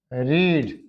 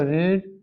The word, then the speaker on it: read: रीड. Second form same, third form same. इसको क्या बोलेंगे? रेड. रेड. Some of the students gate confused, उनको confusion हो जाता है इसकी प्रोनाउंसिएशन. नाउ सी, अभी तक हमने डिस्कस किया, हैव यू गॉट इट?